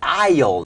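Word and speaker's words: aisle: ทาง เดิน นะ ครับ ก็ คือ i i i นะ ครับ a i s l e s ไม่ ออก เสียง นะ ครับ i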